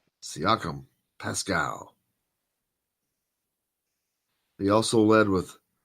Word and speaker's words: Siakam: name see you camp there Sikkim the Pascal siakam siakam Pascal he also led with eight rebounds that